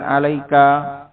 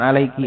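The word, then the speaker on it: عليكَ: Alaika, bukan alaiki, alaika, karena ini yang diucapkan bela sungkawa kepadanya adalah Ibnu Hubairah yang dibunuh oleh khalifah.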